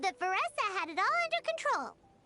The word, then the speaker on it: Varesa: It's pronounced Vessa. It's like Vanessa but Veressa.